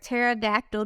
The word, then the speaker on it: pterodactyl: can't you hear of Pterodactyl dinosaur go to the toilet why can't you hear pterodactyl dinosaur go to the toilet why can't you hear it because it has a silent p cause pterodactyl is filled